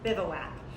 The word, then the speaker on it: Bivouac: The first question everybody asks us is, how do you pronounce it? And the answer is bivouac.